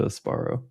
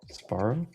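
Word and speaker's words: Sbarro: And he goes into Asparro. I think you're saying it wrong. Sparrow.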